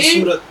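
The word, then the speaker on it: خوبصورت: या उच्चारण यानी प्रोनाउंसिएशन, यानी खे बिल्कुल ठीक है आपकी। मुझे खूबसूरत अच्छा लग रहा है सुन के, क्योंकि अगर देखिए खूबसूरत बोलते तो कानों को बुरा लगता, अच्छी जबान वही है जो हमें सुनने में अच्छी लगे।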